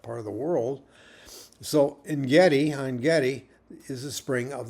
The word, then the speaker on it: Ein: Now, sometimes the N part, it's really pronounced Ein, but a lot of times it's spelled E-N or N. Okay, quite often you see that, but it's really Ein, because Ein means spring, and Gedi means wild goats.